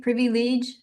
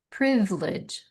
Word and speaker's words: privilege: Privi ledge e privy privy privilege becomes privilege privilege rest our ant no restaurant or without the t on the end restaurant.